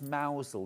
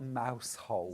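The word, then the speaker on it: Mousehole: there yeah Ma mousel you have to pronounce mousel not mous hole yes Hannah is saying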